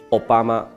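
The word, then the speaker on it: 小浜: 而小滨市呢，还因为日语的读音 Obama，在奥巴马总统的时代还大大做了一番的宣传。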